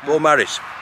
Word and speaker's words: Beaumaris: Is that how you pronounce it? Beaumaris? Yeah. On Anglesey? Yeah. Beaumaris.